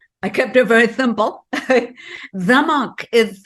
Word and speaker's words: Zemach: Zemach is spelled Z as in zebra, E-M-A-C-H, C as in cat, and H, Zemach.